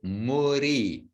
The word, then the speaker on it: muri: And dear devotees, spelled M-U-D with a dot under I, pronounced muri. And our example, or one of our examples of pronunciation of the Bengali with the diacritics. The diacritics have a purpose. And that D with a dot under in the middle of a word is ara, muri.